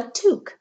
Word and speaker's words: toque: Kensington is here and he's wearing a toque that's what it's called that's how it's pronounced in Canada this toque was the